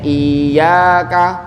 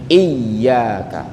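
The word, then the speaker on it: إياك: Supaya yaknya itu bukan terkesan huruf mad, bukan iya, seolah ada ya pertama huruf mad, yang kedua ya yang biasa bacanya iyyaka. Nah itu kan nanti kan jadi ada salah paham, makanya ditekan tuh iyyaka supaya menjelaskan kepada pendengar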